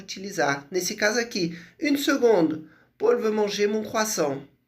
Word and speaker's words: seconde: Une seconde, né? A particularidade de seconde é que se escreve com C.